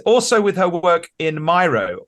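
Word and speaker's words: Miro: with her work in myo or Meo depending on how you pronounce it so RS with hero Meo rhymes with hero and she and funny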